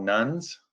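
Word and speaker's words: nones: the united states are what we call nuns i have to be careful we spell that no nes not nun uh what nuns are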